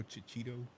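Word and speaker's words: Checchetto: Yeah, I don't know how to pronounce this guy's name. Chichito, Marco Chichito.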